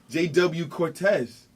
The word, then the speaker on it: JW Cortez: This is the Sunday Sit Down, and today's guest, a real busy gentleman out here, JW Cortez. Yes. Correct? I pronounced that correctly?